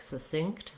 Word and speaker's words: succinct: to this s um so to practice break it down one syllable at a time but try to use